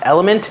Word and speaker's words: LMNT: way to do that it's spelled l m NT but announced element now what they are